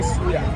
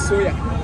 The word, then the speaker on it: suya: Why you call it soya? It's suya. I Suya. love this thing. I'm going to suya. That's soya. I'm going to suya. If you don't pronounce the suya right, I will suya.